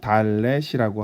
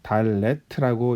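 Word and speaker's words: ד: 자, 그 다음 자음은 달렛이라고 합니다. 달레트라고 읽고요.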